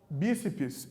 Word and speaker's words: bíceps: Bíceps e tríceps são palavras que possuem duas sílabas.